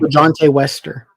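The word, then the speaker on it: LaJohntay Wester: LeJohntay Wester.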